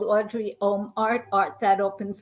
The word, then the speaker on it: Audrye: Fabulous Camille hi thank you my name is Audrey I do spell it a-u-d-r-y-e that is correct um it's Audrey